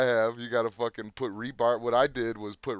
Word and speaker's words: rebar: Rebarb is the fucking. You know, fucking B on it, it's rebar. Whatever. As in reinforcing bar.